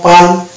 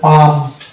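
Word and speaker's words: palm: ছিল পান কয়টা লং পান কিন্তু এটা হচ্ছে রং প্রোনাউন্সিয়েশন এটা একচুয়ালি প্রোনাউন্সিয়েশন হবে পাম অর্থাৎ এখানেও এল হবে সাইলেন্ট অনুচ্চারিত তাহলে দেখতে পাচ্ছি যে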